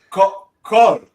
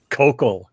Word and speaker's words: Koukl: Él me dijo, se pronuncia Koukl. Profesor, ¿cómo se pronuncia? Koukl. Koukl.